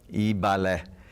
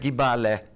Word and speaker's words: Ibalé: Então, muitas palavras, como por exemplo Ibalé, o chegou até pronunciar Gibalé. Por quê? por não terem ali o conhecimento do do da do alfabeto, das palavras, da da própria regra gramatical ou da fonética.